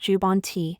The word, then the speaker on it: Jubbonti: Have you heard about a new medication called Jabonti? This video will help you understand what Jabonte is, how it works, and what you need to know to make informed decisions about your bone health. Jabonti, pronounced jubanti, is an injectable medication designed to help strengthen